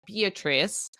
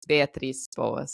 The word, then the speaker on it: Beatriz Boas: So my name here, usually people pronounce it like Beatriz, but the right way to pronounce my name is Beatriz Boas.